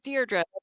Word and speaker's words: Deirdre: So, Deirdre, can you pronounce your name? Maybe I'm saying it wrong. No, Deirdre.